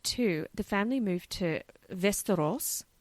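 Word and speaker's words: Västerås: the family mov to vestos sounds like Westeros that's what I was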